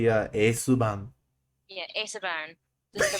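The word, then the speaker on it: エースバーン: Just like when I get a bunny, I'm probably gonna name it like Aceburn or the Japanese pronunciation of it. The pronunciation should be Esuban.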